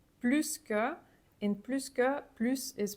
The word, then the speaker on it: plus: than you for example in this case it's pronounced s because the combination pluska is always pronounced with s that's just something you